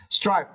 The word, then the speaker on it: strive: But remember the last letter, V, strive. Do not forget, yeah, to create the sound of this last letter, strive.